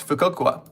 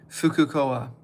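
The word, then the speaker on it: Fukuoka: In the center inside the heart, it's fukokua. That's the fukokua kanji. Fukcoa. How am I pronouncing that correctly? Fukucoa. Yeah, I was saying it wrong. Fukucoa. Fukua. I always thought it was Fukokua.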